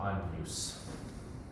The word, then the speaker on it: Agnus: It's like canyon. Yeah. Like that. Or an inye in Latin, sort of like a nye, but not quite that. So Agnus.